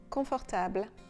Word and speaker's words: confortable: In French, the stress on the word is always on the last syllable.